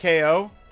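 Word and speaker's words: Kao: to start voting for Cal the kangaroo absolutely be down to play that it's pronounced KO okay KO the kangaroo Mak sense KO is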